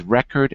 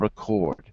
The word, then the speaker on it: record: or verb to noun we often change stress the word the syllable which is emphasized just keep that in mind in general the example i always give is record and record because everyone knows that